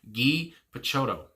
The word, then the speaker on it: Guy Picciotto: Guy Picciotto.